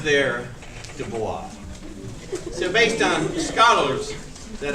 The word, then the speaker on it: Du Bois: In fact, if you actually listen to any African American scholar on the matter, they all pronounce his name Du Bois.